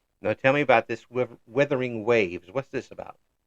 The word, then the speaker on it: Wuthering: Now tell me about this Withering Waves. What's this about? It's so I always pronounce it wrong, but it's Withering Waves. So Like it's Wuthering it's like Heights.